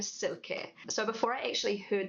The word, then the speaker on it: Silke: But, the way Germans pronounce it is more like Silke, sort of like with a Z rather than an S.